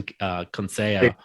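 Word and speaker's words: Conceição: belt Friday night on ESPN against Brazilian's Robson Conseo. And I'm sorry, Sean, say it again. Yeah, very good pronunciation.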